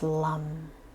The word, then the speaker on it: lam: now adding the mantra which is lum l-a-m pronounced lum lum lum hold your